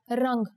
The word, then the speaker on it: rang: Let's check out the word for color, rang. Here the anuswar makes it sound like the ng in the English word song.